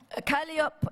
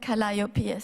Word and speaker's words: Calliope: Calliope, Erato, and we don't pronounce it Calliope, you know.